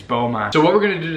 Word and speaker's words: Beaumont: my pronunciation of beaumont i was pronouncing the beaumont you guys were like oh god that's cringy it's beaumont so what we're gonna